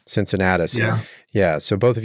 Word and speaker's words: Cincinnatus: project Cincinnatus Cincinnatus did I say it right Cincinnatus yeah yeah so both of you are working